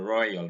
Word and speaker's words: royal: oi and not o and so it is in royal our royal father not our royal father and the next